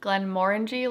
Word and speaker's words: Glenmorangie: how to say it what helps me remember is glenmorangie like orange orange orangey more ng glenn more